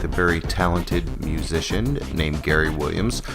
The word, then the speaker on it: Gerry Williams: This week we get to chat with a very talented musician named Gerry Williams, spelled like it sounds like Jerry, but it's actually Gerry Williams.